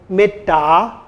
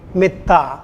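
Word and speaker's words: mettā: metta, they would say metta, rather than saying metta. So dental sounds should be pronounced as dentals always.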